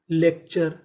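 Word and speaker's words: lecture: है हड्डी का टूटना एल ई सी lake T यू आर ई चर लेक्चर लेक्चर लेक्चर का मतलब होता है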